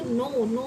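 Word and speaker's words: knee: अब जैसे हमारे नी हो गया, नी मतलब, अब देखो इसे हम कनी नहीं पढ़ेंगे, इसे हम क्या बोलेंगे, क्या प्रोनाउंसिएशन होगी इसकी, नी यानी घुटना।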